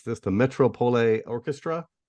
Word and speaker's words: Metropole: Speaking of composing, I was just reading that recently in Holland, you played with I may mispronounce this, the Metropole Orchestra. Metropole, yeah.